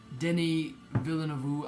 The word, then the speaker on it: Denis Villeneuve: Denis Villeneuve, I believe is how you pronounce the director's name.